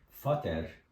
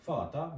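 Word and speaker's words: Vater: çok önemli Hari birimi kelimenin sonunda e ve r ile bitiyorsa a gibi okunur örnek olarak mesela de Fata baba demek de Fata ya daa anne yazalım Muta anne yani kelimenin sona e ve ile biti a gibi ö fater ya da muter şeklinde değil de Fata ve Muta Bunlar da artikeli ben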